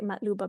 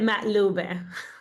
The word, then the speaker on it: مقلوبة: And if Palestinians and most Arabs know that Makluba, or I say Matluba because that's just the way that we say it, like really quick and colloquially. And I say it Matlube.